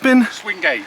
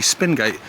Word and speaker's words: Swingate: Swingate. Swingate, I was about to say Spingate. Swingate Water Tower, right.